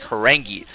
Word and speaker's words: Horang2: Evidently, somebody told me that that 2 stands for 2 E's. You can pronounce it like Horangi.